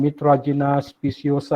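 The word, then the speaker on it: Mitragyna speciosa: Okay, he's the one that do a lot of research on kratom, or the scientific name called Mitragina speciosa. I hope I pronounced right, Dr.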